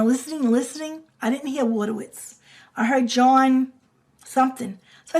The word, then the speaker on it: Wojtowicz: And the thing about Wojtowicz, you guys, it's not spelled water, W-A-T-E-R, W-I-T-Z. It's like there's a J in there.